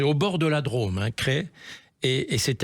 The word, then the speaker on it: Crest: Mais crest, non, il faut dire cré. Voilà, donc vous le savez, c'est situé alors alors on est plus au nord au au c'est au bord de la drô cré et et c'est à l'est de Valence.